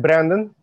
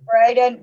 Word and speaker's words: Braden: Well, Greg Brandon. Yeah, Greg Braden.